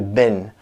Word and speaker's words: been: So we don't say that very long vowel sound. We're going to shorten it. Been. So we're changing been to bin.